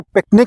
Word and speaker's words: PQNK: इसको पिकनिक के तौर पर प्रोनाउंस किया जाता है। पिकनिक नाम है PQNK।